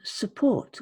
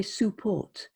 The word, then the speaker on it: support: And support, we don't say support, even though it's a U, we say support, support.